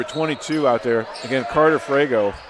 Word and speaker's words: Frego: Number 22 out there, again, Carter Frego. I'm saying it, F-R-E-G-O is the way it looks like it's spelled in front of me.